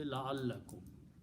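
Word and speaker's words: لعلكم: So when you pronounce them together, you say la'allakum.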